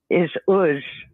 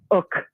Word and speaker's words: Uk: The first one is Uz. I'm sorry, Uk. Uk. It's spelled UK, and it stands for vanity, arrogance, and iniquity.